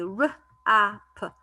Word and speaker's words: wrap: the word rap the w is silent and i say r app rap is like when you